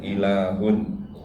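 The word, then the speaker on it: إله: Sebenarnya ada kata untuk mengatakan Tuhan dalam bahasa Arab itu adalah alif, lam, ha. Orang membacanya ilahun.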